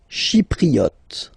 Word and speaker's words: Chypriote: Chypriote. She, remember this Y is pronounced like E, okay?